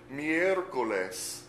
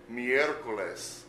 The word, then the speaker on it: miércoles: Miércoles. Miércoles.